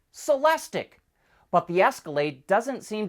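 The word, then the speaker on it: Celestiq: As you probably know, all of Cadillac's new EVs end in IQ, which is supposed to be pronounced ick, lyric, celestic.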